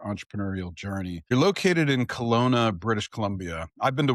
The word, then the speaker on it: Kelowna: Kelowna, you said it right.